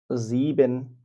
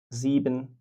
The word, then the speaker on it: sieben: এবং তারপর যদি একটা ভাওয়েল থাকে তাহলে তার উচ্চারণ ইংরেজি জি এর মতো হয়। এজন্য এখানে হচ্ছে sechs। sieben মানে ৭। আমি আবার বলছি sieben মানে ৭।